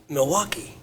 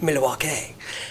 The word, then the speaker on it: Milwaukee: but they go in there and they say Milwaukee and they give that little spiel about Milwaukee yeah excuse me and uh Alex Cooper goes well actually it's pronounced Milwaukee since that movie I still refer to Milwaukee